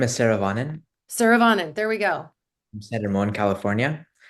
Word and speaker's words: Saravanan: So, Saravanan, am I pronouncing that right? No, help me. Saravanan: Hi, my name is Saravanan.